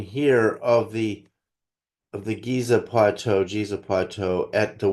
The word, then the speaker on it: Giza: Pronounced Giza plateau for the local Arabs only. The rest of the Arab world pronounces it Jiza as in Jesus, which is the master stone builder.